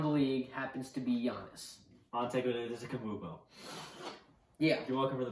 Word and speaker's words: Antetokounmpo: Antetokounmpo. Yeah. You're welcome for the pronunciation.